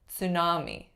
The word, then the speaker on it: tsunami: So if that is the case, it's going to be a borrowed word from a different language, like tsunami, tsunami.